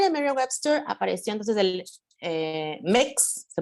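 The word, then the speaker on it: Mx: Bueno, también en Merriam-Webster apareció entonces el MEX, se pronuncia así, MEX como título honorífico.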